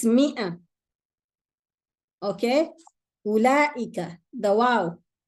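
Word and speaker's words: أولئك: It's not ulaika. It's not a madda. The wow is not there. So ulaika. Ulaika. Okay? This is what the empty circle means. You drop that letter. You don't pronounce it.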